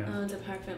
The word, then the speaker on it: Eau de Parfum: Eau de Parfum. You have to say it like that.